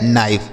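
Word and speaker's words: knife: नाइफ। देखिए यहां के के साथ एन है तब भी के साइलेंट है।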